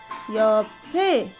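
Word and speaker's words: 옆: two means yep okay it sounds like your pay right so you have to memorize it same your pay your pay got it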